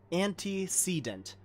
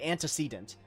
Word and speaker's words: antecedent: anti antecedent oh my have i been saying it wrong anti-sedant okay antecedent tataru i believe she just